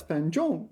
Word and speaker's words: 繁重: Oh, it's 繁重, really? 繁重. Huh. I've been pronouncing that wrong for a long time.